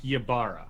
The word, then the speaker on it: Ybarra: Mike Ybarra. Mike Ybarra. Thank you for helping me pronounce that.